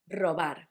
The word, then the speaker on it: robar: First one, robar, to steal. The tricky bit was to know that the first one was a hard one, r, and the last one was soft, r, robar.